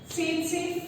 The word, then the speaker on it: tsetse: The name of the insect is tsetse fly. Tsetse fly, okay, T is silent, tsetse fly.